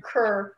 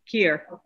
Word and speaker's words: Kier: Kerr. Did I get that wrong? Here. Yeah. They should have had someone who's better at pronouncing names. With author Kier. Kier. There you go. Rhymes with beer.